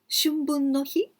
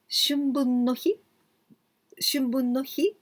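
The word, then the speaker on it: 春分の日: That is, now we are going to learn Shunbun no hi and Shubun no hi. Pronunciation is very, very similar. Shun or shu. Shun with N sound, shu, long sound. Shunbun no hi, this means spring equinox day.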